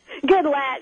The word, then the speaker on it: Goodlatte: Well, is the incumbent, his name is Goodlatte? Is that how to pronounce it? No. Goodlatte? Goodlatte is how he goes.